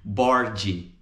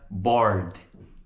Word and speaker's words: bored: Aqui mais uma vez o som do D. A gente não vai dizer bored, né? Pronúncia correta, bored. D. Bored.